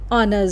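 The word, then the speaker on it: honour's sake: अब ऑनर्स सेक यस ऑनर्स सेक अब इसमें देखिए एच साइलेंट है ऑनर्स नहीं होगा it will be ऑनर्स ऑनर्स ऑनर्स सेक ऑनर्स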